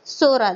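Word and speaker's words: Psora: also it is the original word being the Sora that is t o s o r a that is T is silent which means a grw a fault a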